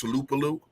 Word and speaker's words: Tuipulotu: And you're saying his name wrong. It's Tuipulotu.